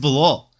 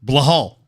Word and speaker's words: Bilal: You actually love picking against Bilal. Or as Chael Sonnen likes to call him, Blahal. Which is like one of my favorite mispronunciations by Chael, I think. Blahal.